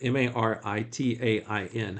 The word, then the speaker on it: Maritain: It's pronounced Maritain, with a soft N at the end, since Jacques Maritain was French.